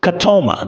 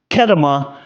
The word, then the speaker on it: Ketema: Also, his name is pronounced Ketema, not Ketema, even though it's spelled that way.